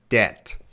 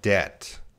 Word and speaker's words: debt: Debt. So my example sentence there, I have an idiom. I have a mountain of debt. So that means you have a lot of debt.